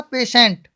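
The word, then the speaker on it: patient: पेटेंट बोलते हैं, पर पेटेंट नहीं बोलना है। टी के बाद क्या आ गया, आई ई आ गया, तो प्रोनाउंसिएशन क्या बताया था अभी, स होगा, क्या हो जाएगा, पेशेंट, है ना।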